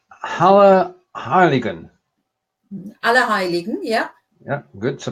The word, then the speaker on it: Allerheiligen: Allerheiligen, yeah. Yeah, good. So pronunciation's okay.